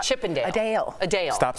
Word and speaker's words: Adele: It Adele Adele Adele it sounds like Adele but she means a Dale like Chippendale Adele Adele Adele no Adele like Chippendale a Dale a Dale stop saying